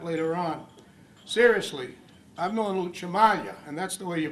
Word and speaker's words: Cimaglia: Seriously, I've known Chimalia, and that's the way you pronounce it, folks. It's not Somaglia and and every other way I've heard it pronounced since I've been coming to these meetings.